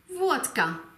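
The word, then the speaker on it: водка: Zum Unterschied von Wodka. Wodka. Hier liegt die Betonung auf dem O und daher wird es auch als solches ausgesprochen.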